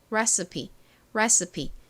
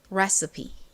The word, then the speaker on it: recipe: 보통 E는 가장 끝에 오면 떨거지로 소리가 안 나는 경우가 많아요. 그런데 이 단어에서는 E가 이 소리로 자기 역할을 합니다. 그래서 이 단어의 끝부분 발음이 P가 아니라 P가 되는 거죠. 한국식으로는 레시피라고 발음하고 실제 발음을 recipe 이렇게 중간에 이 부분이 살짝 서에 가깝게 발음이 됩니다.